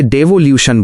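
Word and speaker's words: devolution: Teachers tip pronunciation help डिवोल्यूशन इसे डिववोल्यूशन बोलें।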